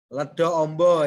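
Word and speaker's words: Ledokombo: Ledo Ombo ya itu bacanya.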